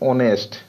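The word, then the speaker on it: honest: पे और चर्चा करें, ओनेस्ट, ओनेस्ट। तो ओनेस्ट क्या है, आपको अ से स्टार्ट हुआ है और जितना भी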